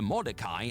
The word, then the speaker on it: Mordecai: People on various wrestling message boards, pre-social media, commonly referred to Mordecai as the White Undertaker.